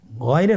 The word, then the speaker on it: গাইন: উচ্চারণ করা যাবে না যেহেতু হরফটি মোটা এজন্য মোটা করে উচ্চারণ করতে হবে মাশাল্লাহ আলহামদুলিল্লাহ আমরা আজকের